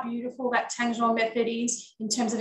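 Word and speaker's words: tangzhong: She'll pronounce it properly because I can never do that properly. Tanchong.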